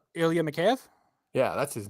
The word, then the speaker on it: Mikheyev: Ilya Mikheyev.